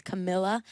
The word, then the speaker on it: Camila: we when we yeah in Spanish you pronounce it ca and but I guess um in like American kind of dialect they say as Camila I like call me